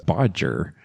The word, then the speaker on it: bodger: Another term is bodger which rhymes with dodger or cludge or to fudge something.